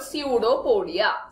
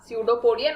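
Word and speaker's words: pseudopodia: feet like structure called सूडो पोडिया सूडो पोडिया note down the spelling students P एस ई य यू डी ओ पी ओ डी आई ए सूडो पडिया पी एस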